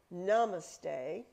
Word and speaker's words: Namaste: frequently use this word Namaste and I put the pronunciation up there because I have a tendency to say it wrong the accent is on the first syllable it is namaste and